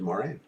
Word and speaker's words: Moiraine: should have been and again i heard it pronounced both ways maureen and warren no i'm gonna go with my